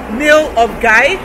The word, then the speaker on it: Milngavie: it's a medieval village it's pronounced nail of guy and if this is